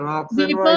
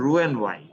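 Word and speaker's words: Roux-en-Y: আরে এটা রক্স এন্ড ওয়াই Vapors না, operation. এটার উচ্চারণ হলো রু এন্ড ওয়াই।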